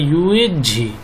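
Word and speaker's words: 月氏: होते हैं चीन में, यूची जो नाम है उसका पूरा सही प्रोनाउंसिएशन या हिंदी में सही जो लिखा जाता है वो ऐसे लिखा जाता है यूएझी, जिसे हम डायरेक्ट यूची कह देते हैं।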